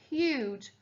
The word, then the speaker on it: huge: The opposite of tiny is huge. Huge. The G-E is making the J sound there.